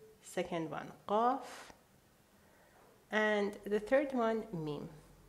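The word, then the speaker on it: قاف: Now, the second letter, Qaf. Now, pronunciation-wise, please don't try to pronounce it exactly as Iranians because you're going to get a sore throat. Just do your best, okay? It's glottal. Qaf.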